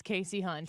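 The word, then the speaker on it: Kasie Hunt: It's Casey Hunt. Casey Hunt. Thank you for that crack research, Leah, to get us the correct pronunciation.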